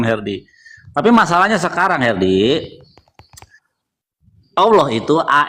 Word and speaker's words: Allah: Nah, karena sudah A, jadi artikelnya tidak dibawa Allah bacanya. Artikelnya dihilangkan jadi Allah.